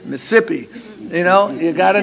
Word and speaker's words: Mississippi: I use that example it's not Mississippi if you go down there it's Mississippi you know you got